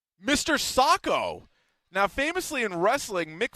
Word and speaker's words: Socko: Not Soxo. No, Socko.